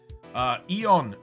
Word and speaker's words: Eon: Eon, as in just E-O-N, not A-E-O-N.